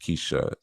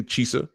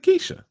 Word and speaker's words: Keisha: Chief, it's pronounced Keisha, LOL. We spoke last week. I pronounced it right when we spoke, Keisha. Last strong. So what you talking about? I didn't say Chisa or Chisa. I know how it's spelled. Did I say it wrong just now? No, I didn't. I said Keisha.